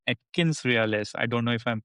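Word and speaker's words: AtkinsRéalis: So many buzz word and is currently the AI hard and uh of this company called Atkins Realis. I don't know if I'm pronouncing the right.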